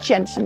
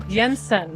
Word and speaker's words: Jensen: It's not pronounced Jensen. It's Jensen. Yensen.